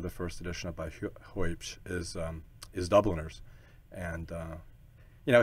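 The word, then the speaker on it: Huebsch: Is it Hoopsch? H-U-E-B-S-C-H? Yeah, Hoopsch. Okay.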